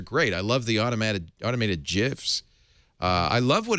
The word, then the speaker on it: GIF: No, because it's not a J, it's a G, it's a GIF. But a giraffe is spelled G-I.